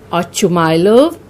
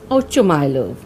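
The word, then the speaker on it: Ochumelov: Now this is a Russian name and the pronunciation can vary. Some call this Ochumylov or Oshumylov. I'll be pronouncing it as Ochumylov.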